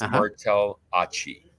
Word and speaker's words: Martellacci: You know, if you ever had a Martell cognac, it's Martellacci.